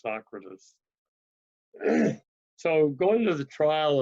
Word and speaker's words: Socrates: I learned to pronounce it Socrates, and I was corrected. It should be pronounced Socrates.